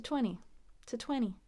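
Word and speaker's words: twenty: She can count to 20. Notice 20, we skip that last T.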